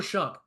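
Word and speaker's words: Shough: for Louisville Tyler Shu been saying his name wrong the entire time figured that out on the broadcast the other night it's Tyler Shu the guy has 1,674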